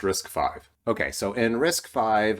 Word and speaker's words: RISC-V: just go ahead and look this up pronounced risk five okay so in risk